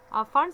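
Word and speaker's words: Pfund: Brackett series IR region, फंड series, ये पैफंड नहीं अपने पढ़ना, पी साइलेंट है यहाँ पर, ये फंड सीरीज है दैट इज आईआर रीजन।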